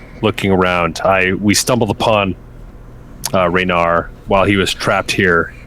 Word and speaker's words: Reynard: We stumbled upon Reynard while he was trapped here, and we instinctively decided to rescue him because he was caught in the storeroom. It is pronounced Rainier, and I want to